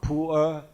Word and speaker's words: Pu'er: The traditional Pu'er tea, and they are Pu'er tea in China, pronounced as Pu'er, and then from now on, Atomy Pure tea will make it Pu'er tea.